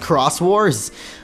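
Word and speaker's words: Xros Wars: apparently it was pronounced Crosswarss. I never got that. I guess X is sometimes pronounced cross.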